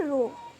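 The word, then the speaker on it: ρ: ठीक है, अब ये प्रोपोर्शनैलिटी कांस्टेंट क्या होगा, इस प्रोपोर्शनैलिटी कांस्टेंट को हम बोलते हैं रो। ठीक है, प्रोनाउंस इसको क्या करते हैं, रो, है ना।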